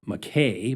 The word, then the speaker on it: MacKay: And so MAC got shortened to MC, which got bastardized to MacKay, but the real pronunciation is Mackay.